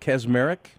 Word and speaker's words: Kaczmarek: say your name right cosmeric yes you said it right we typically we see kazmarek and actually it's not even the polish way of saying it but we and it's